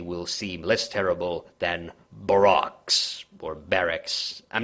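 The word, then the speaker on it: barroques: To many, they will seem less terrible than barracks or barracks. I'm not entirely sure how to pronounce that word. Yes, we can. Yeah, it's Baroques, and it's like written in italics.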